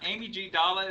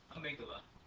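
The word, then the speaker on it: amygdala: Here is the part uh Amy G. Dala is sometimes the way you say it if you want to spell it right. Amy Gala. Uh also pronounce amigdala.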